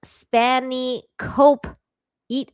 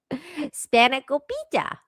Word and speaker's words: Spanakopita: It's pronounced Spani Cope Eat. Wow, I guess you really don't like Spanakopita. Spanakopita.